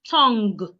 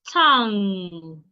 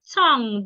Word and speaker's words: tongue: Not tongue, it's tongue. Tongue. The G should not be heard.